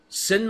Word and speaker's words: SYN: what is called a sing message s YN I might have said it wrong but sin message sorry I just said